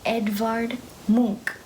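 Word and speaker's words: Edvard Munch: thank you so the the way that you actually pronounce this name in the second sentence is Edouard Mook she is the one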